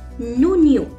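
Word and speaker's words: oignon: Onion, to onion, we say onion, and it's masculine as well, so I will write down as a before it, and it's pronounced as nonio.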